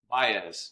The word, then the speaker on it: Baez: How do you pronounce it? Baez.